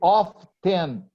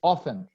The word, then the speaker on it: often: just to two remarks we don't say off then we say often often yeah you don't pronounce the letter T often and they were